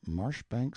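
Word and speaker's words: Marjoribanks: Pronounced Cubri Flanover Marshbank Sellers Viccount Barkley of Chumley Castle, Warshire.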